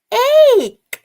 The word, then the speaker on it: ایک: give it a try it's egg egg rhymes with cake here's a cake should